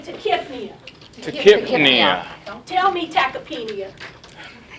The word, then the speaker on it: tachypnea: So the Y is silent here. So it's tachypnea, brunipnea.